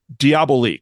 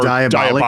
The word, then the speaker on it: Diabolik: uh so your film your production company is diabo correct yeah we pronounce it diabolic like danger diabolic like the Mario Baba movie